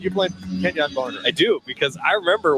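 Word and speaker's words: Kenjon Barner: came to campus and his name was was so unique in the way that you emphasized that syllable, you know, it it became so ingrained in all of us, Ken Yan Barner.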